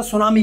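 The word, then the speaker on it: tsunami: शब्दों को देखें तो टी से शुरू हो रहा है लेकिन उच्चारण उसका सुनामी के नाम से किया जा रहा है ठीक है जापान का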